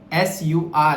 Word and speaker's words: sur: The another set of words, the 2 words which sound similar here on your screen are sur, S-U-R. If you see, that's the pronunciation is sur.